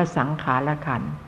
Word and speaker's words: สังขารขันธ์: ขันธ์ ที่ 4 สังขารขันธ์ คือ สังขาร อ่าน ว่า สังขารขันธ์ คำ ว่า สังขาร นี้